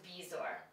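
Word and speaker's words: bezoar: of the Z but it actually is pronounced the way it's spelled which is bizor and the last word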